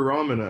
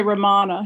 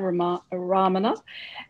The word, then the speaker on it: Ramana: The same is true for Ramana, I believe. I probably used to say Ramana.